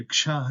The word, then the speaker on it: क्ष: के एस ह तो यहां पर ये कक्षा है जिसे का और श मिलाकर इसका उच्चारण किया जाता है अगला ट्रे है